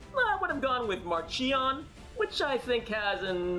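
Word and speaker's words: Marchion: on whom you ask markian rowe has always been mark yonro amongst the project luminous authors who discussed the issue extensively before deciding on marcion during those conversations the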